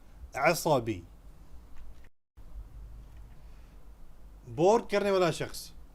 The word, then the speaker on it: عصبي: People will understand you if you say asabi, but the correct pronunciation is asabi.